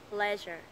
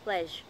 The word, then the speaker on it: pleasure: tiết còn lại, leisure, pleasure, thay vì đọc là pledge, bị thiếu mất âm r.